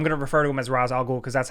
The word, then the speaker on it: Ra's al Ghul: al Ghul I'm gonna refer to him as Ra's al Ghul because that's how they pronounce it in this movie you could say rish al Ghul whatever but what they do here with Batman's